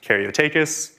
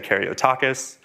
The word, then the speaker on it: Caryotakis: So My last name is pronounced Caryotakis. Most people and most models will say Caryotakis.